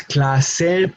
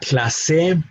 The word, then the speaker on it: clase: Again, we pronounce clase, not clase, no clase, clase. No difference in where we put our emphasis. The emphasis in this case should be in the second to last syllable, clase.